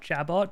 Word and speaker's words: jabot: is education they called I don't know if you pronounced the T it's spelled jabot but it's probably Jabo Calla j a b